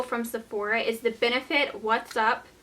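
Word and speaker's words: Wat's Up: Sephora is the Benefit What's Up. It's actually spelled like W-A-T-T, like light bulb watts.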